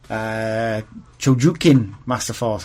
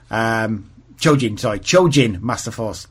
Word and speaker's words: Chojin Masterforce: Chojin Masterforce, I believe it's pronounced in Japanese. Chojin Masterforce.